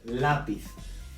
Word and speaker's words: lápiz: Because of the little accent we have above the A, okay? This is where we stress on the word, lápiz.